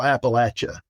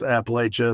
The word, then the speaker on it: Appalachia: Atlanta up to central Appalachia. And it took me a while. They told me, no, Rob, it's not pronounced Appalachia, it's Appalachia.